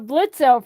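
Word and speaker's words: Blitzø: The O is silent.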